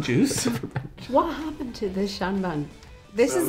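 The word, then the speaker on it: seanbhean: granny smith fun fact the Irish for old lady is Shan ban which is spelled the exact same way as the actor Sean Bean so whenever Sean Bean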